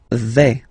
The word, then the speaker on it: vais: Okay, so remember, final S not pronounced here. Je vais. Okay, when you combine this A, I, you get the sound E, really open.